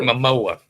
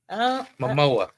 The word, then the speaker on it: Momoa: So Momoa.